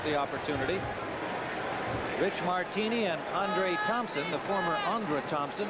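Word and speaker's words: Aundra: We were told that he's changed the pronunciation of his name, spelled A-U-N-D-R-A, from Andra, as he was known in Green Bay, to Andre, as he's known here in New Orleans.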